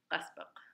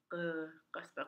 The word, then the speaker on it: qaspeq: The term Qaspeq came from non-Yupik speakers not being able to pronounce the word Qaspeq because it's very guttural. Qaspeq. I tell people it's back here, Qaspeq.